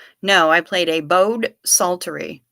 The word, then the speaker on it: psaltery: No, I played a bowed psaltery, and that's spelled with a P. Psaltery.